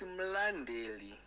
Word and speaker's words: Mlandeli: It's mlandeli. Zvaicho zvemanyoro anotongoita aitori it's mlandeli. Haina H. Mlandeli.